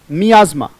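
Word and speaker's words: miasma: मियाजमा, there was अ मियाजमा, right, उच्चारण बोलेंगे, बोले मियाजमा, MIASM में उच्चारण है मियाजमा, मैं बार बार बोल रहा हूं मियाजमा, हिंदी में लिख लीजिएगा।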